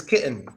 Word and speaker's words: kitten: about the Double T A lot of times a Double T is silent when it comes to an N at the end of the word for example silent te that's not kitten it's kitten that's not Manhattan it's Manhattan Manhattan kitten Manhattan both quiet